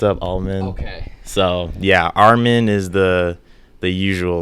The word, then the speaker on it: Armond: Armond. Armond. I get Armond. I get Almond.